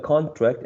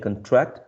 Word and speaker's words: contract: looking at a website that says contract and contract shifting stress yes yes i think